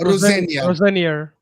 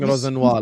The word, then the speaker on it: Rosenior: How do you say it? Rosenior. Sam had 1 hour of the show to teach me how to say that. So Rosenior kept saying Rosenoir like he's as their permanent manager.